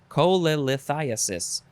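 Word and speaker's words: cholelithiasis: co colither colla there's double there's a l syllables cole thiassis chole lithiasis say that with me cholethithias cholithiasis noun from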